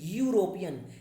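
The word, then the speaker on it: European: यूरोपियन, यूरोपियन का starting जो letter है ई है, जो कि एक वॉवेल है, बट इसका जो प्रोनाउंसिएशन है, साउंड है यूरोपियन, या में बड़ा ऊ की मात्रा लगा रहे हैं, इसलिए हमने इससे पहले ए का यूज किया।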